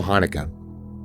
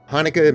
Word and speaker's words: Haneke: and directed by Michael Haneke, or at least that's the pronunciation I hear on the internet.